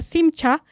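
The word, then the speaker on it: שמחה: Pero hoy refrescando acá algunos de los conceptos básicos es que gozo en hebreo que se pronuncia simcha y en griego jará se define como un sentimiento profundo de alegría y paz interior que proviene de Dios.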